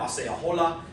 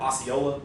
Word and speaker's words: Osceola: Much of this activity was coalescing around the young and charismatic war leader Osceola, or Osceola, as we would sort of pronounce it now, who was urging, we need to fight back.